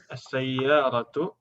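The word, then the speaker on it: السيارة: As-sayyaratu yang pakai tasdid itu cuma 1 huruf ya. Yaitu iya. Ini yang asli. Sayyaratun. Aslinya kan sayyaratun. Tasdidnya yang asli itu cuma dia. Tapi kalau ditambahkan al, gimana jadinya? As-sayyaratu. Ini sinnya ditekankan, tambah tasdid karena al.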